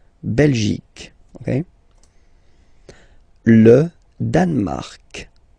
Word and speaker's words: Danemark: Le Danemark. So same sound here, this k and then this Q-U-E, well, they will produce the same sound here.